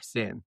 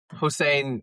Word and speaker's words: Hussein: Hussein is how most English speakers would pronounce it and that's fine.